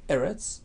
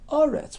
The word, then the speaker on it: Eretz: right the round neurons the word errors can be pronounced Eretz or are rats with it comes depending on where in a passage it is situated at the end of a statement it's RS in the middle its errors so these pronunciations were